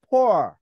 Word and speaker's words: poor: 그래서 포를 길게 하는 발음입니다. 오를 완전히 우가 아니고요. 오와 우의 중간 발음이에요. 그러면서 긴 겁니다. 그래서 다 같이 한번 오라고 발음하시면서 길게 발음 한번 해볼까요? poor.